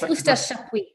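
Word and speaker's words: Eustache Chapuys: I really hope I'm going to pronounce this right. Estash Shapwee. Is that right, Lauren? Yes, Estash Shapwee.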